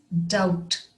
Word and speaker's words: doubt: word doubt d-o-u-b-d doubt the b is silent it's pronounced as doubt it comes from the